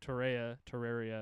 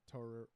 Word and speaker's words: Torreira: Torreira, whatever. Will It's like Pereira, but Torreira with a T.